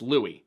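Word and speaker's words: Luis: to yourselves my God why does Aiden keep pronouncing it lwis it's Louie well my great-grandfather's name was lwis Carmine spelled the same way son's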